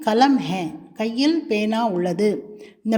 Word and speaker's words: हाँ: ஹா ஹா என்ற சொல்லில் மேலே ஒரு அர்த்த சந்திர புள்ளி வைத்துள்ளது பாருங்கள். அப்படி வைத்திருந்தால் ஹா என்று மூக்குத்வனியுடன் சேர்த்து உச்சரிக்க வேண்டும்.